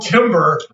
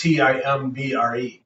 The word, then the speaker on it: timbre: time it's you always it's like spelled Timber I'm gonna pronounced why isn't it spelled t-a-m-v-o-r or something it's t-i-m-b-r-e oh yeah yeah I know that word yeah oh it's pronounced Timbre yeah and it's like